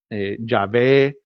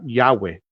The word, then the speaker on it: Yahweh: Eso no, sino que en realidad, porque son las 4 letras, el tetragrammaton, que en realidad no se sabe cómo se pronunciaba, pero muchos dicen que la manera más correcta sería Yahweh.